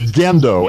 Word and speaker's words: Gendo: oh and it's pronounced gendo actually it's a hard G gendo that's all right no